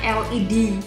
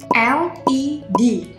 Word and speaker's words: LED: LED. Secara tulisan dia memang dari huruf L, tapi secara pengucapan dia itu berawal dari huruf E.